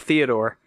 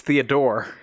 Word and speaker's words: Theodore: Since those of you who didn't get to see that, Theodore, and by the way, his name is not Theodore, it's Theodore. It's Sure. Emphasis on that last syllable.